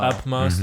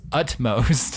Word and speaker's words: utmost: maybe Camp Upmost did not realize how to pronounce utmost.